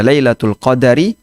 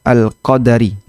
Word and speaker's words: Lailatul Qadr: Lailatul Qadri ini ada dua cara baca. Bisa dibaca lailatul qadar, bisa dibaca lailatul qadri, bisa dibaca lailatul qadari, bisa dibaca lailatul qadri. Jadi kalau ditulis lailah di situ emm kata alqadri ini ada dua cara baca bisa dibaca al-qadari dengan dalnya di fathah bisa dibaca alqadri dengan dalnya disukun dua-duanya benar ya Anda boleh baca dengan lailatul Qadar.